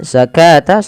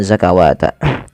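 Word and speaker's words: الزكاة: Kemudian zakata sama dengan ini jangan dibaca dengan zakawata.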